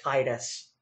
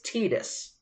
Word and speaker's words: Titus: I love you know those are the same people who pronounce it Titus it's tetus yeah but I don't want to say tetus I understand that it's tetus I don't want to